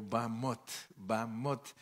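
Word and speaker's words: במות: No sé por qué a veces las palabras hebreas les ponen tanta H y nosotros pues estamos acostumbrados a nuestro idioma que como se escribe se lee, pero sin embargo cuando se habla en hebreo Bamot, y tal vez nosotros si nos dicen escriba Bamot ponemos B-A-M-O-T, ¿verdad?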